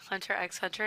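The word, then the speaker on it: Hunter × Hunter: Yeah, I know because people would say Hunter x Hunter, and then people would be like, "That's not how you say it." No, it's actually the X is silent.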